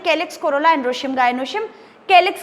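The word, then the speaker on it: calyx: एक्चुअली दोनों सी से start हो रहे हैं, पर केलिक्स बोलने में प्रोनाउंसिएशन के आ रहा है।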